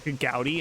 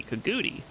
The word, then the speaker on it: Kagouti: I've heard someone pronounce it Kagouti, and when I heard that, I'm like, what is wrong with you? Kagouti? Gotta be Kaguti.